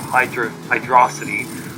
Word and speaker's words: Hydrocity: A word of God, when Yuji Naka, the game's producer, was asked about the pronunciation of Hydrocity, even the debate among fandom, he stated that it's Hydro City.